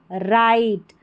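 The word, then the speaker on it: right: I only did what was राइट। राइट। यहां पर राइट है ना? जी एच साइलेंट है इसमें।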